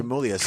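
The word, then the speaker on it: Tremulis: pronounce his Yeah, name? Tremelius, yeah.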